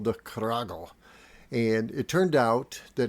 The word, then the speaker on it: Cragle: My name is pronounced Cragle, but being a German name back in the day, it most likely was more like Cragle or Cragle.